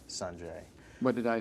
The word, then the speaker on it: Sanjay: Well, I play this tennis player named Sanjay Gandhi, and actually the pronunciation is Sanjay. What did I say? Sanjay?